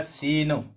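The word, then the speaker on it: scene: पर ए जाएगा सीन फिर एस और सी दोनों लगातार कंसोनेंट आए हुए हैं तो यहां पर आपका जो सी है वो पढ़ा जाएगा ये साइलेंट हो जाएगा पहले वाला नहीं पढ़ा जाएगा तो हो जाएगा सीन इस तरीके से आपने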